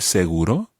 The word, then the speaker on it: seguro: So, ¿incluye el seguro?